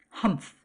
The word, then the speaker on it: humph: Humph, said Anthony. And he said it as it is spelled, which is unusual and startling.